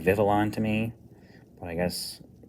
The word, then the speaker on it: Vivillon: Apparently this is pronounced Vivion. I think it looks like Vivillon to me, but I guess it's Spanish or something.